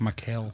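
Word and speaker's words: Mikal: My middle name is Michael but it's a e l. Nope. It's m i k a l. What? Michael.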